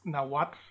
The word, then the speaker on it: Nahuatl: in Nahuatl, is actually, I'm overpronouncing that L. It's almost a silent L. It's Nahuatl, and it's almost like a little puff of air on the side of your tongue there.